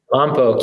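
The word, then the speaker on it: Lompoc: So you're in Lombok. Did I say it right? Lombok, yeah.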